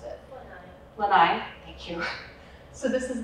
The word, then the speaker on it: Lanai: eating birds um this under here is the lynnae Lanai it's Hawaiian like sorry I don't know how to pronounce it Lanai thank you so this is the Lanai cat